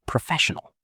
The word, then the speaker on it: professional: And what about professional? Professional. Four syllables. The stress is on the second part, professional.